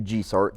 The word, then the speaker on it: GIESORC: It is actually GIESORC.